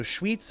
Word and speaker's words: Schwyz: So Schwyz is the pronunciation. There's also a German pronunciation.